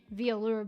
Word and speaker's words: VAllure: Well, I'm Scottish, so the word alluring, you're alluring, VAllure, but VAllure.